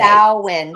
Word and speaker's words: Samhain: Samhain. Samhain. Samhain. Okay. Samhain. It's Samhain. weird because it's spelled Mhm, Samhain.